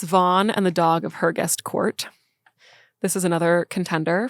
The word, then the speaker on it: Hergest: Then there's Sir Thomas Vaughan and the Dog of Hergest Court. This is another contender for potential Hugo Baskerville. Hergest? Hergest. Can you spell that? Hergest. Oh. It's not like her guest. No, it's like Hergest.